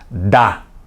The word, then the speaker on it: dá: Mas o primeiro é pronunciado com força. Dá. É tônico. E o segundo a gente fala fraquinho. Dá. É átono.